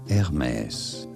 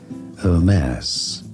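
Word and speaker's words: Hermès: We are looking at how to pronounce the name of this French brand. In French, it is said as Hermes. Hermes. It'd be fine in English to say it as Hermes.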